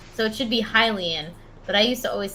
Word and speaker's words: Hylian: but i used to always say hyelian instead of hylian oh yeah i used to always say just hillian yeah well that makes sense hyrule yeah right so it should be hylian but i used to